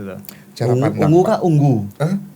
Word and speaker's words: Ungu: Ungu kah unggu? Bacanya ungu kah unggu? Kalau menurut band yang ada di Indonesia ungu, Pak. Bukan band. Tulisan kan dia UNGU. Ungu.